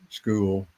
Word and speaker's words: Skool: And I'm impressed that some of who I call the big players are using school for their businesses.